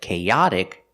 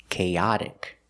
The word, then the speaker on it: chaotic: But with chaotic, the stress is on the second syllable. Cha. Chaotic. Let's look at the pronunciation of chaotic. The same sounds, the long a linked together with the short a sound. Cha. Kaya. But we move the stress. Cha and the T is a fast D sound. D chaotic.